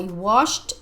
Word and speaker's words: washed: wash to wash his Lavar to wash I washed my hair this morning washed this Ed inifika